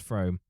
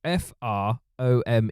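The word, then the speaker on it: Frome: of uh from from I said it was from because it sounds French and then I think it's pronounced from do you know of it how's it spelled f o f r o m e uh I'm going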